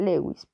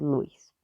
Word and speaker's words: Lewis: y la teoría de si lo leemos en castellano se pronuncia lewis pero en inglés pues es luís ok como les mencioné